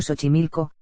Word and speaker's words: Xochimilco: el complejo lacustre de xochimilco pronunciado xochimilco cercano a la ciudad